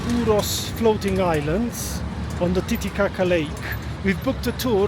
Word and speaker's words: Titicaca: Titicaca is the right pronunciation, the name of this lake, not Titicaca.